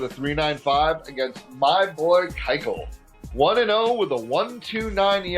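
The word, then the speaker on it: Keuchel: and one with a 395 against my boy kyel one and0 with a 129 ra and those of you know I love watching the Kyle all day long um I know everybody wants to pronounce it Cel but I went back and I checked and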